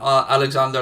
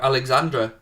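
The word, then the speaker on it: Alexandre: Odegaard, Gabriel Martinelli and Alexander Lacazette. Or Alexandra. It's Alexander or Dre? It's Dre, isn't it? It's D-R-E. Lacazette, yeah. D-R-E.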